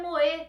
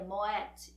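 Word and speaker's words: Moët: Ah, e a pronúncia não é moê, como falamos no Brasil, é Moet e Xandol.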